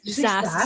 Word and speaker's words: SaaS: SaaS. How do you say that, Grace? SaaS, software as a service.